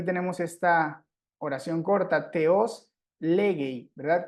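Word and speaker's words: λέγει: Entonces, por ejemplo, aquí tenemos esta oración corta, teos legei, ¿verdad? Como legei está acentuado en su primera sílaba y acá también teníamos un acento agudo, este se sustituyó por un acento grave.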